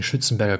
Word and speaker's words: Schützenberger: To give one example, in the book The Ancestor Syndrome, Anne Arcelin Schützenberger, I'm pronouncing Schützenberger correctly because I'm originally from Vienna, Austria.